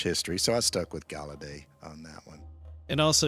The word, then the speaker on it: Gallaudet: It's named after this minister, but whenever I've heard the university pronounced, it's always Gallaudet. And I think it's just an anglo butchering.